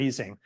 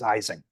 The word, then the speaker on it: Ising: our revenge on Mr eing at least on this side of the Atlantic because we almost universally mispronounced his name as as eising so it wasn't until